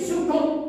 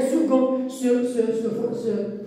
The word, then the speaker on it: second: Il va dire second. On va lui dire non, il n'y a pas second, il y a second. Cette lettre-là, bien cette lettre, se prononce que.